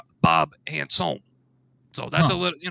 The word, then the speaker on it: Handsom: or not and uh bob handsome is actually properly pronounced bob anson so that's a little